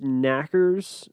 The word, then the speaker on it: knockers: The Tommyknockers, which is pronounced knackers, but I'm going to say knockers because I'm not going to pronounce them knackers throughout.